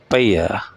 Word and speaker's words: paella: ये स्पेनिश में इसको जब प्रोनाउंस करेंगे तो इसको बोलेंगे पैया पाया, क्रेजी पाया।